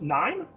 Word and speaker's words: KNIME: First of all, it's pronounced NIME, like lime, and it stands for the Constance Information Miner.